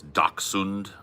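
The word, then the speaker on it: dachshund: of problems you know a German fellow told me it's dund yeah yeah that's probably way closer I speak some German yeah I mean I the pronunciation is you know it's up in the air man I I I heard it pronounced when I was a kid doson and so that's what I've always said you put a stick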